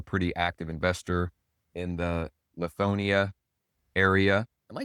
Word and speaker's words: Lithonia: Looks like you're a pretty active investor in the Lithonia area. Am I saying that right, Hank? Is it Yeah, it's Lithonia. Lie or lit? Lie. Lithonia.